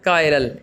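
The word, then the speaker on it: chiral: ये लफ्ज़ है कायरल, देखिए इसने लिखा भी हुआ है कायरल, as pronounced as ए कायरल।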